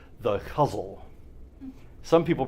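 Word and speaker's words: ghazal: and I think probably the GH is supposed to be kind of a like a somewhere between a g and an H figure that out um so the huzzle is or guzzle is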